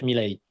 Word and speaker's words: Milei: Alors, en espagnol d'Argentine, on prononce Javier Milei. Son nom est d'origine italienne, comme énormément d'Argentins est d'origine italienne. Donc, si on la prononce à italienne, ce serait plus Milei, mais étant donné qu'il